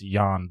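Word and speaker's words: Jan: looks to me anyways it's spelled jam but I believe it's yan balls Ruud yeah yeah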